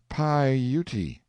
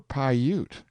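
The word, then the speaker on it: Piute: a good deal but why should Lovejoy spell it PA Utah that isn't right it should be pouti or pyute I speak by Authority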